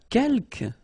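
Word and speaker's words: quelques: the second one uh Kel you don't pronounce the final s here Kel means few okay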